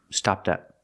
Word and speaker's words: stopped up: up pronunciation stop up link the T sound with the next word stopped up stopped up if your toilet is